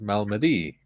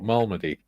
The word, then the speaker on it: Malmedy: Pronounced Malmedy. Or Malmedy.